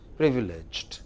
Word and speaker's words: privileged: No, Privileged. don't make the second syllable longer. It is just the first thing. Privileged.